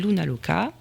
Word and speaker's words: Luna: Luna, ça se prononce ou mais c'est un u, hein.